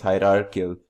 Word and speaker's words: hierarchical: Finally, we have, penultimately we have as our fourth example of inheritance called hierarchical inheritance. Pardon my mispronunciation, it's hierarchical inheritance. So in this case, a base class basically will contain more than one derived class.